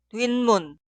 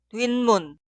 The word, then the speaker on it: 뒷문: La primera es la combinación de 뒤 y 문 y se pronuncia 뒷문, 뒷문.